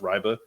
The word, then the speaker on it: Reibe: This kid, Reibe, has, apparently it's pronounced Reibe.